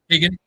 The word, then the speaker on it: Keoghan: to say his last name right, but Barry Keoghan. Yeah, Keoghan.